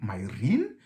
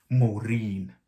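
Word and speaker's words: Muirín: one as well okay i thought it was my my rin you know but which is pretty close but it turns out it's actually maureen like maureen you know and it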